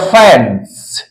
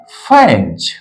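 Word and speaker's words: fans: है फेंच क्योंकि य इस एस का उच्चारण क्या होगा ज के समान होगा तो हम लोग लिखेंगे फेंज हम लोग क्या लिखेंगे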